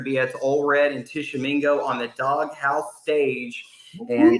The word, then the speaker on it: Tishomingo: A lot of people don't know how to pronounce or even spell Tishomingo.